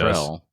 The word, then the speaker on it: Luttrell: I just realized I pronounced your name wrong up front. That's all right. I said Everybody does. Luttrell.